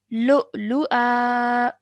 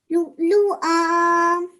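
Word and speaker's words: لُؤْلُؤًا: You can see over here, hamza has a fathatain. So that fathatain will now change into a vertical fatha. So we would pronounce this as now Lu'lu'a. Lu'lu'a.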